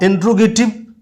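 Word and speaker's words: interrogative: इंट्रोगेटिव, इंटेरोगेटिव, ये हमेशा ध्यान रखना, इसकी स्पेलिंग भी पूछी जाती है हमारे कई एग्जाम में। इंटेरोगेटिव होता है, इंट्रोगेटिव नहीं होता है।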